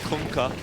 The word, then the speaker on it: Kunkka: That's how you pronounce it. You're welcome. Kunkka.